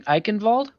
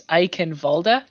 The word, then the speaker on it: Eichenwalde: And it looks like we're doing Eichenwald. Yeah, it looks like that's the initial pick from Both Shenandoah. teams not fully knowing how to spell it. And discussing the pronunciation, it looks like it's Eichenwalde. So there we have it.